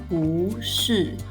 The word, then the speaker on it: 不是: As a result, the tone of the negation character is changed to the second tone. The phrase is then pronounced as 不是, which is easier to say.